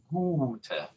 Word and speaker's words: gute: So a U spelling plus a single consonant usually constitutes to a longer U sound. Gute, gute. Can we see there again that it is that first syllable that takes the stress?